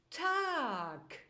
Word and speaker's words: Tag: beispielwort wäre der Tag hier hört sich in der Aussprache das G wie ein K an es wird aber in der deutschen Rechtsschreibung mit einem g am Ende geschrieben es gibt noch viele